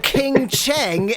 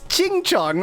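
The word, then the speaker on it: 青城: I could say like King Cheng and act like I don't know how to pronounce Mandarin at all, but I know that it's Qingcheng. Like, that's how that's pronounced.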